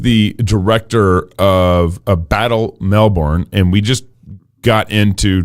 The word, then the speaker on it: Melbourne: to australians it's actually melbourne as though on the end it's bun as though it's a loaf of bread uh however i try